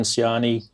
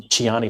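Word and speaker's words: Ciani: some big artists like suzanne siani um chiyani sorry i should have pronounced that correctly and a few sort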